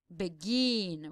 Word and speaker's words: begin: or the last one we say begin right we can exp extend the last syllable begin we cannot say beg and that's how we know that the last syllable is the stressed one the syllable that we